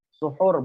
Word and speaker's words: suhur: Suhur, bacanya suhur ya. Kalau dibaca suhur itu berarti apa namanya itu? Al-aklu fis sahri, ya kan? Makan di waktu sahur. Perbuatan ya, maksudnya perbuatan. Tapi kalau kita bacanya sahur, itu artinya makanannya.